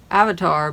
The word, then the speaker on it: avatar: That's avatar, but pronounced, you know, the Sanskrit way.